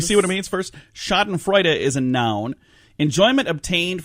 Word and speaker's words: Schadenfreude: Schadenfreude. There we go. Schadenfreude. Schadenfreude. Try to use that in a sentence, Heidi. I have no idea what it even means. Should we see what it means first? Schadenfreude is a noun.